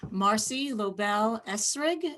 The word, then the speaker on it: Marci Lobel-Esrig: later so with that i'm going to introduce marcy lobel esrig am i pronouncing that correctly yes you are marcy yes